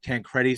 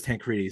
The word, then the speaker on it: Tancredi: that we speak to, some people would pronounce it more phonetically. So like that's how I pronounce it, like Tancredi, because it's easier to spell, I think. But half my family does Tancredi, so either way works for us.